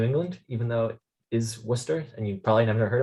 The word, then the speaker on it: Worcester: repositories and all that um free time-wise uh worcester massachusetts second biggest town in new england even though it is worcester and you probably never heard it before um